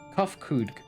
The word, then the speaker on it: Kofkug: As for nomenclature to address my individual person, I believe it will be pronounced Kofkug.